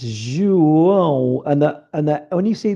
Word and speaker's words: João: So Ju, like the O in Portuguese is often pronounced U, not O, which is different to the other Latin languages. And the J is obviously J, and it's João.